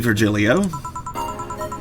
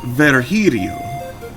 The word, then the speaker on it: Virgilio: You look winded, Virgilio. It's pronounced Virgilio. Virgilio. No, I'm pretty sure it's Virgilio.